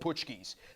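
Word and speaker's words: Pączki: The one time when you can get these donuts called Puchkis. That's spelled P-A-Z-Z-Z-I.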